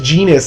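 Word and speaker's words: Genis: is genus and yes that is genus as in rhymes with genius i mean it's basically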